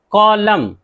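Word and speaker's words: column: कॉलम, कॉलम एन है last में नहीं पढ़ना है इनको, कॉलम।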